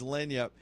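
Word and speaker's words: lagniappe: I remember I mispronounced it for years, and you ever do that with something that gets stuck in your head, and and then somebody told me it was lanyap, and I still couldn't remember it.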